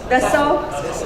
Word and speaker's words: Dassault: He's Semiconductor 3D Experience Senior Director at, how do you pronounce this? Dassault? Dassault. I knew some alphabets are going to disappear.